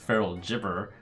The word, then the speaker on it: Feral Gibberer: Well, and just as a rules clarification, for I'm being told that it's pronounced Feral Gibberer, adding copies of Feral Gibberer to your hand will not keep buffs put on the Gibberer.